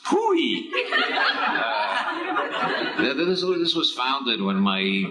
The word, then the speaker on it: POEE: That's abbreviated POEE and pronounced POOEE.